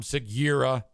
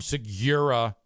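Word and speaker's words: Segura: about how free beer cannot pronounce Tom sigur's last name he calls him Tom sigir Yuri yua Tom sigura really really weird um we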